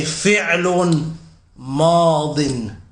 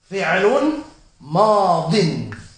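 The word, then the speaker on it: فعل ماض: Fi'lun madin. Okay? Someone might say online, he's saying it wrong, it's actually fi'lun madi. No. Fi'lun madin. It's madi if it has an alif lam.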